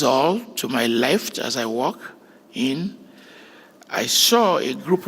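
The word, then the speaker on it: Ìwà: the Euroba people of West Africa is called Iwa. I wa And I will say you should join me in pronouncing it.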